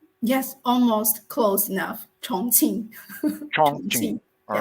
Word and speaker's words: Chongqing: 87 million and zhang king am i pronouncing that correctly you just you just correct